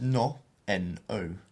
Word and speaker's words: no: verb and this is no n o so we don't pronounce it like we do in English which is no has to be a much more pure vowel sound so no no so